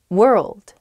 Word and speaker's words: world: World. World. Ah, oh, I see why this one's hard. World, world, hard to pronounce. That RLD, I think, together is tough. Plus that W at the beginning as well.